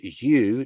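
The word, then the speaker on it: Yeuw: Before this, by the command of the first mystery, a divine being named U. Now that's spelled Y E U W like U tree.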